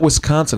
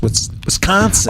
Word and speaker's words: Wisconsin: It's not Wisconsin. It's Wisconsin.